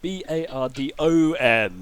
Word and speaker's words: Bardon: Barden is his name, but it's with an O at the end, not an E. Barden. So it's a completely different person. Makes sense. He told us how it's spelled as soon as he introduced himself. Exactly. Hi, I'm Barden. Bardon, not E-N.